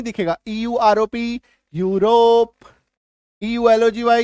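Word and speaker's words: Europe: चलो नेक्स्ट देखो, अगर किसी शब्द में ईयू आए तो ईयू का भी उच्चारण यू होता है, और ये आपको मैक्सिमम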